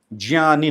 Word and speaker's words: ज्ञानी: उदाहरण के लिए, स्कूलों में हमें 'ज्ञानी' के स्थान पर 'ग्या' सिखाया जाता है - ग्या-ज्ञानी, ज्ञानी, ज्ञानी। यह सही शब्द नहीं है। सही शब्द ' ज्ञानी' है। 'ज्ञानी' का उच्चारण नाक से होता है।